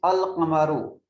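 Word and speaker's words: القمر: The letter L is pronounced. The pronunciation is Al-Qamaru.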